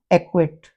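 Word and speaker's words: acquit: उसी प्रकार सी के बाद यदि क्यू आ जाए तो हम सी को साइलेंट कर देंगे। एक्वा, एक्विट, यहाँ पर भी सी साइलेंट हो जाएगा।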